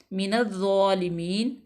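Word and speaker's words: مِنَ الظَّالِمِينَ: रा पुर पड़ी जाएगी तो यहाँ पे वाव मद्दा है, अलिफ मद्दा, मिनज़्ज़ालिमीन, अलिफ लाम जो है वो साइलेंट हो जाएगा, डायरेक्ट नून को दौद में मिला देंगे, मिनज़्ज़ालिमीन, यहाँ पे वक्फ बिल अस्कान होगा।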